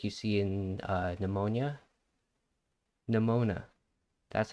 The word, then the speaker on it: Nemona: Nemona.